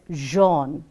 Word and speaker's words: Jean: So, we will have to learn that, and going ahead, the first one is Jean, which is pronounced as Jean.